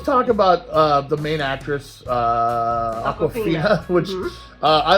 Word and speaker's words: Awkwafina: Yeah, she doesn't spell it that way though. I know, but you say it the same way, right?